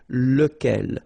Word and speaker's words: lequel: Okay, so remember, you've got to pronounce it lequel, even if you've got this QU. Okay, remember that this U phonetically doesn't exist, so lequel.